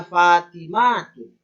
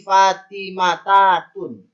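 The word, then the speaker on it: فاطمات: Maka jadinya Fatimatun. Tak marbutahnya ini dibuang dulu. Baru benar. Kalau dia tak dibuang, tak marbutahnya tak dibuang, maka bacanya salah. Menjadi Fatimatatun. Itu salah.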